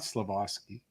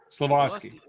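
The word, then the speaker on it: Slafkovský: It's not Slafkovsky. How do you say his name properly? Slafkovsky.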